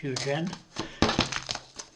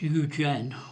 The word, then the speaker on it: Eugen: I think it's Eugen or Eugene. I always pronounce it Eugene.